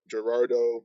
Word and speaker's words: Gerardo: oh it's probably Gerardo you probably pronounced the g at the beginning it's a j you don't Gerardo Gutierrez 70 died a